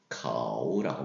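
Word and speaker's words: 口: 그래서 거우라고 입모양을 형상화시켰다라고 발음할 때는 커우처럼 해서 카우라고 말씀하시면 되겠어요.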